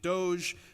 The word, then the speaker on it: Doge: known as do now some people are pronouncing it Doge because of the you know old school clerical implications I prefer do but